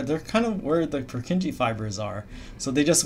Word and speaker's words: Purkinje: This is, the original pronunciation is Purkinje, but everyone says Purkinje.